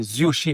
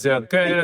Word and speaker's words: Zurcher: Et donc, Mais généralement, c'est comme ça qu'on prononce, c'est Zurché. Normalement, c'est Zurché. Mais il y a des gens qui disent Zonken, qui disent Zurker, etc.